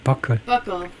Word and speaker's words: buccal: 버클이라고 그러네. 버클. 앞에다 액션 뚫고 버클이라고 그러는데 relating to the cheek. 뺨의 형용사가 버클이네요. cheek, 뺨이죠. The buccal side of the molars. buccal side. 버클이다.